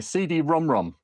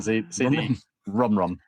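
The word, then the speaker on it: CD-ROM²: PC Engine and a CD Rom Rom. That is how you say it. It's a CD Rom Rom, yeah. Because it actually says CD Rom squared. It's got the two next to it.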